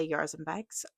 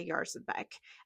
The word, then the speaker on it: Jarzabek: Um so, please give me a little bit of grace if I'm still not getting it right, but my understanding is that it's Ella Yarzh embek.